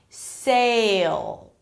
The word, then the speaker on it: sail: That's how you distinguish between sell and sail, right? Because that's the S sound, sell, and here you have a changing vowel, sail. So you start with an E, and then actually the tongue is going towards the I sound, A, right?